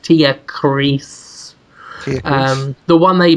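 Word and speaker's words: Tierkreis: like, and say Suikoden Tia Chris. I think it's pronounced Tia Chris.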